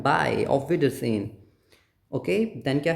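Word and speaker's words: Auf Wiedersehen: सोहेनी, जेहन, जेहन, जे, ज, ऑफ विडरसेन। इसका मतलब क्या होता है, बाय, सी ओ गेन की सेंस में हम बोलते नहीं है, बाय, ऑफ विडरसेन, ओके।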